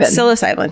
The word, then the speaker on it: psilocybin: it sigh sigh low sipping mushrooms shrooms psilocybin psilocybin thank you as a way to cope now